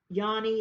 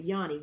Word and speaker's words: yoni: called a yoni steam i think you probably pronounce it different i'm about to tell you the correct pronunciation yani it's probably yanni yanni yanni steam it